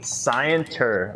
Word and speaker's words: scienter: do you spell that s c i e SCI scienter like science except T um can I intervene